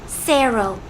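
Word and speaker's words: cero: know how to pronounce zero in Spanish it's pronounced Sero I just thought that was interesting piece you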